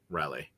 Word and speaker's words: Raleigh: How do you say Raleigh? Raleigh. Raleigh. Rally. Raleigh. There's an emphasis on the the syllable.